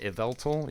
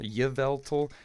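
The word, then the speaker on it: Yveltal: I've heard some people like pronounce the like y and say y ye yvelt. But I I see it as iveltal like like evil. Evil, you know, something like that.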